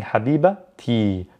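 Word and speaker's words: habibti: but on its own it's silent we don't pronounce the t however when there's possession involved if i want to say my love that's possession right or if i want to say the the love of or the car of someone i pronounce the t when i'm connecting it to another word so in this case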